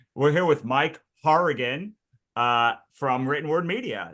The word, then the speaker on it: Hourigan: I'm usually the one who has the the name that no one can pronounce, but like we're gonna say we're here with Mike Harrian uh from Written Word Media.